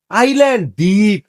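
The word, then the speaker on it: island: মাছ এটাকে বলি আমরা আইসল্যান্ডে ভাই আইসল্যান্ড একটা দেশের নামটা এটা আইল্যান্ড যেদিমে যে দ্বীপে আপনি আর আমি লাঞ্চ করব এটা হল আইল্যান্ড আইল্যান্ড ঠিক আছে এটা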